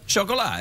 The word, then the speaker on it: Chocolat: Oh, how do you pronounce that? What? How do you say that word? Chocolat.